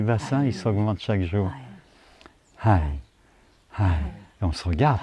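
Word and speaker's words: حي: Peux-tu le prononcer, s'il te plaît? Moi, je le prononce bien. Hai. Merci. Hai. Et c'est avec un H.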